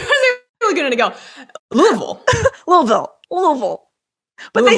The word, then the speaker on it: Louisville: It's not Louisville, Kentucky, but it's like Louisville, Kentucky, right? Oh, I think I was Laguna to go. Louisville.